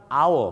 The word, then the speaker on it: hour: นะ ครับ เพราะ ว่า O wl เนี่ย ออก เสียง ว่า al ไม่ ใช่ โ นะ ครับ hour นั่น เอง ครับ ดัง นั้น ครับ